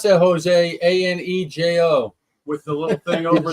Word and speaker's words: Añejo: How do you pronounce that, Jose? Anejo.